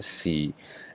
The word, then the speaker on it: 士: If the top line is longer than the bottom line, this is pronounced si.